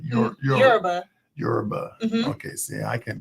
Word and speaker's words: Yoruba: You want to say Yurba Yurba? Yeah, Yurba. Not not Yoruba but Yurba.